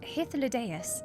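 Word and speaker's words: Hythlodaeus: It's pronounced hithus.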